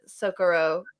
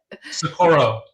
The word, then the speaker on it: Socorro: I'm not as familiar actually with the Socorro saucer, or I don't think I said it right. Yeah, Socorro. Socorro, yeah.